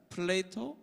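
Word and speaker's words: Plato: 플라톤이라고 읽지를 않더라고요. 플레이토 뭐 이렇게 읽고 아리스토텔레스 이런 이름이 안 나오더라고요.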